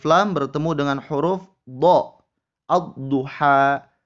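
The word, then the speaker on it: الضُّحَى: Ad-duha. Ad-duha. Alif lamnya tidak dibaca.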